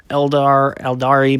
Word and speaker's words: Eldar: I don't know if that still gets pronounced Eldar or Eldari or however it gets pronounced. It's Eldar. Everybody knows. Everybody that plays it knows it's Eldar.